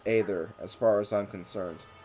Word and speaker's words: Aether: how you say either because there is an a there it makes an a sound it's not either it's